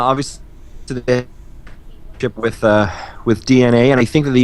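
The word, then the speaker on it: DeNA: working with with dna spelled d-e-n-a but his dna is how it's pronounced um also known and now i think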